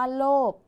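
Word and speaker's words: โลภ: ท้าย ค่ะ คำ ว่า โลก คำ นี้ มี พอ สำเภา เป็น ตัว สะกด แต่ ออก เสียง พยัญชนะ ท้าย เหมือน เสียง บ ใบ ไม้ เหมือน กัน นะ คะ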